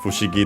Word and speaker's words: Fushigi: This we have seen in this very series because it's in Bulbasaur's name, Fushigi Dane, from Fushigi. Actually, unaccented.